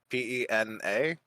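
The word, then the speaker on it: Peña: uh Michael uh piano p-e-n-a with a Spanish n oh Michael Pena Pena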